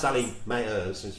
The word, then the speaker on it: Sally Mayers: Sally Mayers, which is how you pronounce the name, just so you know, yes, says that choice is definitely her goal.